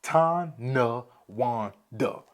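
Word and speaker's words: Tonawanda: right let's get into Tana Wanda again I'll pronounce that for you guys tan Wanda crazy right uh but let's talk about the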